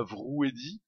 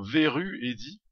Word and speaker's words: Veru Eddy: Une salutation également à Vrou Eddy, pardon, Veru Eddy. Oui, je l'appelais toujours Vrou Eddy, vu l'orthographe de son pseudo, mais non, non, ça se prononce bien Veru Eddy.